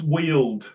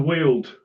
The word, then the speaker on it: Weald: Your description of the Downs, it's Weald, it's pronounced.